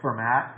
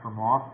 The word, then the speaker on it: Fermat: another type of spiral called it looks like fermat it's actually pronounced for moth pronounced prophyla that from off that one i